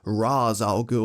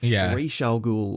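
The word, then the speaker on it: Ra's al Ghul: a Minefield here because there is no definitive way to pronounce his name whether it's Raaz Al gou or raal gou or hey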